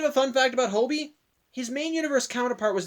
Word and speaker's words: Hobie: minor ruminations one yeah apparently his name this entire time is pronounced Hobie and not hobby like I've been saying